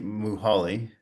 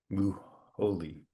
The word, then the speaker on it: Muholi: So, Zanali, uh, sorry, Zanelli Muhali. Actually, I need to look that up again because I've already forgot how to pronounce her name. Muholi.